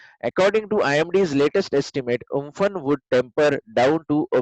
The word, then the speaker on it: Amphan: So the super cyclone Amphan, so actually it's pronounced Umphan, name given by Thailand, has weakened slightly and